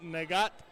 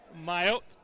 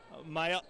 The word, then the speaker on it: Mayot: We were calling him Nagat, but I was saying it wrong, and then he told me go ahead and go with Mayot.